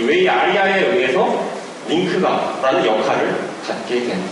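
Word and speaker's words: WAI-ARIA: 웨이 아리아라고 읽는다고 하더라고요.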